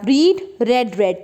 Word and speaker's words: read: अब बच्चों पहले ये बात ध्यान करें आप, रीड रेड रेड तीनों फॉर्म ये होती